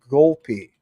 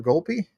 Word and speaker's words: Golpe: Michael Golpe. Let's pull that up. And what do we have from Mr. Golpe?